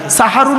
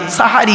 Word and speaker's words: সাহারি: দন্তের স্বয় আকার দিলে সাহারুন মানে হলো রাতের শেষ অংশ এর খাবারকে আরবিতে সাহারি বলে তাহলে শব্দটা কি হবে সেহরি না সাহারি তাহলে ভুলটা ভাঙলো জলসা